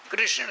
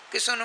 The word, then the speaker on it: कृष्ण: कृष्ण सबसे उच्चारण नहीं होगा, इसीलिए बहुत लोग कहते हैं किशन माँ किसना नहीं कहते हैं, किसान किसान कहते हैं।